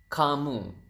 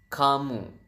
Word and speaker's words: kamu: U is kamu. So ca and moo. So you have camu and then how do you say they?